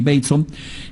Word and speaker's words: Bateson: Gregory Bateson, se escribe Bateson, pero es Gregory Bateson.